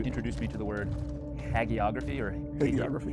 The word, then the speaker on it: hagiography: Well, in our last conversation, and I'm going to pronounce the word wrong, you introduced me to the word hagiography, hagiography, thank you.